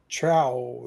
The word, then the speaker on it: trow: And it says it's pronounced OU as in mouth, So it would be let's see if I can get it to say it. Trow then. Trow. Yeah. Rhymes with how.